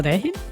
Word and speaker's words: Raihan: It seems Asriel replacing Raihan. I think it's pronounced Rehin. Is it pronounced Rehin? Rev seems to probably. pronounce Rehin, yeah.